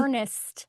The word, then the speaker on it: Ernest: Ernest. Est. Ernest spelled like the word Ern. and not the name. Est. Very distinct syllables.